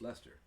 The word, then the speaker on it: Leicester: It's spelled Leicester. Yeah. But no, it's Leicester.